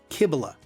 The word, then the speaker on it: Cybele: Today's lesson will look at the main goddess of the city, Kibila. That's spelled C Y B L E.